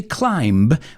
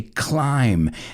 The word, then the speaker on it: climb: at that word because climb is a silent b we don't say climb we say climb and it reminds me